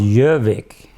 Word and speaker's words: Gjovik: And it was Gjovik, but it's pronounced Gjovik. The G is silent, but that's where the name came.